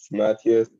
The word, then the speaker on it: Matthias: I alternate by the way the other person says it. So Matthias. I like Matthias because it's how I say it in French.